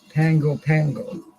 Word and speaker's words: Pago Pago: It's Pago Pago, Pago Pago, but it's pronounced Pango Pango.